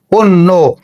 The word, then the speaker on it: অন্য: তাহলে আমরা এখানে আচ্ছা, এরপরে দেখো এই যে এই নয়ের সঙ্গে জফলা ছিল, এই জফলা একটা যুক্ত বর্ণ, তাহলে এখানে কি হয়ে যাবে, শেষ বর্ণের সঙ্গে ওকার যুক্ত হয়ে যাবে, উচ্চারণ হয়ে যাবে অন্য।